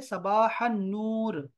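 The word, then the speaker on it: صباح النور: इसका जवाब होता है सबाह नूर, इसमें अलिफ लाम साइलेंट है बिल्कुल।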